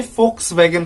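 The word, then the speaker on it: Volkswagen: एक कंपनी है वोल्क्सवैगन, जिसे हम हिंदी में फोक्सवैगन के नाम से बोलते हैं।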